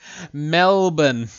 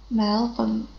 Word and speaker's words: Melbourne: yes can you say melbourne melbourne correct um you pronounce it without r without our sound yeah we we don't